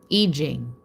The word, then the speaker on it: I Ching: and they taught me in Mandarin, it is pronounced I Ching. So I say it the way it's pronounced authentically in the Mandarin language.